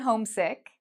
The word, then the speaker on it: homesick: You'll notice that for hometown and homesick, home is the loud part, okay? I say home louder than town and home louder than sick.